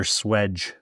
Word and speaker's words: swage: Do you say swage or swedge? Swedge. Yeah. It's spelled swage.